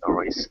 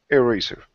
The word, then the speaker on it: eraser: In the is eraser or eraser with E or A? Finally. The pronunciation. The only pronunciation that gets its true pronunciation is the A. So this E would be something more like eraser.